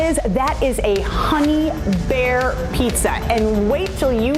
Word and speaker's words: Bexar: Bear is spelled B-E-X-A-R because, of course, that is all about San Antonio right there.